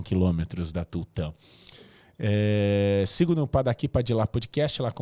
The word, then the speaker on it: Padaqui Padilá: Sigo no Padaqui Padilá Podcast, lá com o Marcelo Cleiton. O Padaqui é D-A-K-I Padilá, com D-I-L-A, mais como se fala do que como se escreveria, porque a gente fez nesse momento dessa forma.